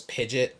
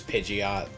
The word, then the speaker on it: Pidgeot: Apparently, one handbook used to have Pidgeot pronounced as Pidgeot. Yeah. But we all know that's the incorrect one as we all know the the official pronunciation is Pidgeot.